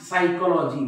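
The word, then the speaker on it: psychology: असं म्हणतात का प सायकॉलॉजी नाही सायकॉलॉजी बघा हा पी सायलेंट आहे सायकॉलॉजी सायकोथेरपी तुम्ही असं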